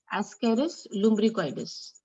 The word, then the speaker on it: Ascaris lumbricoides: Ascaris lumbricoides. What is its name? Ascaris lumbricoides. This is how we pronounce it.